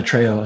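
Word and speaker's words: Trejo: tro yeah okay tro Danny tro I say it wrong so don't yeah tryo sorry Danny owns a bunch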